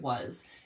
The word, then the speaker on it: was: Like, look at was. If we spelled was the way it sounds, we would spell it like most kids are, which is W-U-Z, because that's what it sounds like.